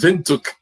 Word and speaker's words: Windhoek: Okay, it's pronounced Windhoek. So it was a German name back in the day when they were colonized.